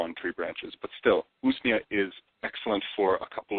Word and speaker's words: Usnea: How do you spell that? Yeah, Usnea, Usnea.